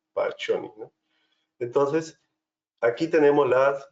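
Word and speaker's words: Pacchioni: le llamamos granulaciones pioni se pronuncia poni no entonces aquí tenemos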